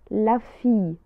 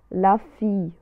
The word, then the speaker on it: fille: عندما تكون لدينا لا lettre double L، لا lettre L مرتين، تنطق على صوت ياء، la fille، la fille.